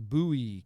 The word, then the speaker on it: Bowie: where the was it it's pronounced Bowie County Texarkana sort of sketchy okay periscope Tiger